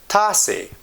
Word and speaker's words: تاسې: You can pronounce this pronoun as T A S A Y. تاسې.